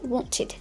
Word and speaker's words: wanted: শুধু আমারটা শোনার চেষ্টা করো, উন্ট, এটা কিন্তু ওয়ান্ট না, উন্ট, অ্যান্ড শেষে যদি ইডি থাকে ওয়ন্টেড, ওয়ন্টেড, লাইক দিস ওয়ে।